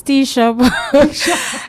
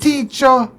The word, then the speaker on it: Techa: Teacher. Techa, Techa, everything. No. I accept all, but the I best stay with pronunciation is Techa. But you know me, you can't do teacher.